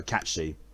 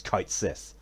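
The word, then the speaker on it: Cait Sith: Or, no, Cat Shi. It always feels weird to actually use the proper pronunciation of his name, rather than how I used to call him, which was Kite Sith. It's Cat Shi.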